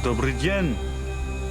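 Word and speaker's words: Добрый день: Hello, is Dobry dyen. I don't know how to pronounce that. Dobry dyen.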